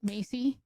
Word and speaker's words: Maci: So, you know, fast forward to giving birth to Maci. Maci. Mm-hmm. Maci Ray. My son's name is Mason Lynn. He's about your age, though. That's cute. You know, Maci rhymes with Traci.